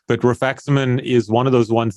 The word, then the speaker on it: rifaximin: yeah how about uh refixament is that how you say it rifaximin yeah placebo short term